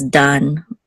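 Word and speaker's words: דָּן: Okay, so we have a dalid and a kamatz, and then this nun sofit will close it out as dan, right?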